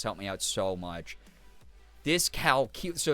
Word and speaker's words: dyscalculia: Oh, it's not dyscalc, even though that's like technically how it's spelled. It's like dyscalculia.